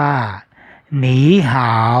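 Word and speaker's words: 你好: ครับ ใน ภาษา จีน เมื่อ มี โทน เสียง ที่ 3 อยู่ ติด กัน เรา ต้อง เปลี่ยน พยางค์ หน้า เป็น เสียง ที่ 2 เสมอ นี บวก ห่าว จึง ต้อง อ่าน ว่า นี้ หาว ม.ค ก่อ สร้าง ชื้อ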